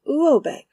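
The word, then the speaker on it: Råbäck: The manor house, or herrgård, in question is to be called R-A-B-A-C-K, pronounced something like Robeck, though that is not its name.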